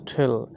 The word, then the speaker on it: tell: ইংরেজির সঠিক উচ্চারণ হচ্ছে ঠেল, কিন্তু আমরা টেল বলে থাকি অনেকে, তো দুটোভাবেই হবে।